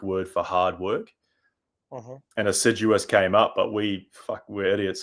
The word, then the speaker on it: Assiduous: We pronounce it Assiduous.